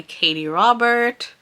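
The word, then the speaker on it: Katee Robert: the Vampire Queen by Katie Robert. Yeah, there's no S on that. I said it right.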